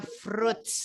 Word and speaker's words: fruits: Oke, for you all, untuk Teman-teman semuanya, walaupun ini tulisannya fruit ya, fruits. Nah, tapi I-nya enggak usah dibaca ya. Jadinya bukan fruits, tapi fruits. Fruits.